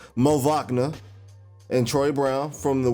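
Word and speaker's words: Moritz Wagner: this i got to say his name correctly mo wachna and troy brown from the wizards for um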